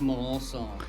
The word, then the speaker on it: Melancon: Texas is we got DJ melik DJ pronounce that last name for us it's Malon song milon song meon s there you go like